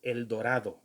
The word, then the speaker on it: El Dorado: to describe anybody, but when I hear a white man say El Dorado, come on, man. And then you're telling me to speak English in this country when you can't even pronounce those words the right way. It's El Dorado.